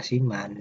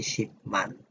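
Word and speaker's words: 십만: Nah, kenapa dibaca siman? Di pelajaran 8 ada tentang cara baca bahasa Korea per suku kata. Ini biak bertemu dengan miem, dibacanya siman, bukan lagi sipman, karena biak berubah menjadi miem.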